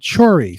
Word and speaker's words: Chhori: film called i'm pronouncing hopefully pronouncing it right choree c-h-h-o-r-i don't pronounce stuff right or maybe you're wrong look